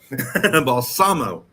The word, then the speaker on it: Balsamo: Balsamo.